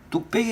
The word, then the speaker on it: 뚝배기: 근데 이거하고 이제 비교했을 때 뚝배기 같은 경우는 빼기로 발음 나도 빼기로 쓰지 않아요.